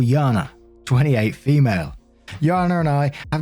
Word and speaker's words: Jana: a name j-a-n-a and I know it can be pronounced a couple of ways either jaina or Jana I'm gonna go for Jana in this one and I just